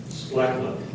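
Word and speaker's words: splacknuck: The word is splachnuck. Splachnuck. Sorry. It's a noun. It means an odd or peculiar animal. Splachnuck.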